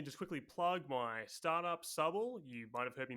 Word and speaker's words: Subble: That's Subble spelled Subble. So it rhymes with bubble.